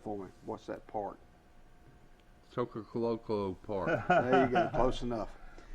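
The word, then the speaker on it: Choccolocco Park: Y'all pronounce that for me. What's that park? Chocoloco Park.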